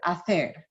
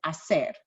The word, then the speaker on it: hacer: The combination of CE, I pronounce as the, as in the word hacer, versus what other LT teachers say as hacer, with the S sound.